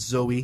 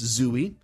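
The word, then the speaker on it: Zooey: zoie is her name people want to pronounce it Zoe that's not correct it's zooie spelled Ze z ooe y uh based on an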